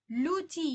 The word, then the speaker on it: লুচি: উচ্চারণের ক্ষেত্রে হয় সমস্যা, যেমন মধু, লুচি, অনেকে নুচি বলে, দেশ, অনেকে দেশ বলে, কিন্তু উচ্চারণ কি হবে?